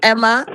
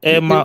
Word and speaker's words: Emma: If it's a male, you say Ima.